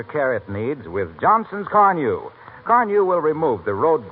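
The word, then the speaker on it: Carnu: Give it the extra care it needs with Johnson's Carnew.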